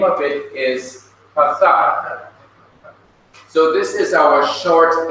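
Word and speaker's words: Pathach: Now this short horizontal line is called in Hebrew, the name is Pathak. As you see right here, this is a sign of the short vowel Pathak. P-A-T-H-A-K-H, Pathak.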